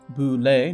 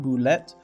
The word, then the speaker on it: Bulette: Whether it’s an oddly french looking name - it’s pronounced boo-lay, not bullet - or the fact